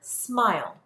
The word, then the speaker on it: smile: Pause the video and write the word smile. Are you ready to check your work? Smile. S-M-I-L. In order for this I to be long, I have to have the silent E at the end.